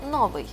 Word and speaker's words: новий: Тільки от перший раз ми чуємо новий, а далі нове. Правильний наголос цього слова – новий, нове.